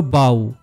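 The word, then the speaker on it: bow: টানলো এবং টার্গেটে নিশানা করল এক্ষেত্রে প্রথম সেন্টেন্সে বি ও ডব্লিউ হলো বাউ কারণ এখানে এটার অর্থ নমস্কার করা আর দ্বিতীয়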